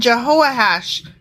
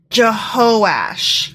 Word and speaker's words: Jehoash: Samaria then his son jehoiahash became don't know a hash Jehovah went from jehoiah has no you know what I apologize I mispronounced that it's jehosh jehosh but still jehoiah has